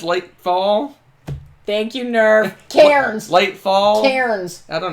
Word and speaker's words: Cairns: Karen's. There we go. I didn't think I was saying it right. All right. So, Still not. Karen's. Cairns.